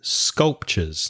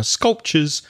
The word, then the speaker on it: sculpture: Now, because I'm from London, I'd probably say sculpture. So the schwa, the at the end, sculpture. How would you pronounce it, Reza? Yeah, being from Belfast, we exaggerate the R a bit more. So I'd say sculpture.